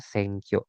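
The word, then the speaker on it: 選挙: Ini cara bacanya atau furigananya ee dibacanya itu Senkyo.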